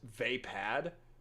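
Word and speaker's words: Vaapad: Maybe it's usually pronounced vapad. That's a weird spelling for it to be pronounced that way, but I will take your word on it.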